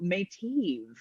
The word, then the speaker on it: Meitiv: week uh is danielle mateev yes is that how you say it eve yes it is i practiced i coached her i need i it's like she was like no it's may t i had to do